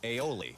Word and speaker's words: aioli: How do you pronounce that? Aioli.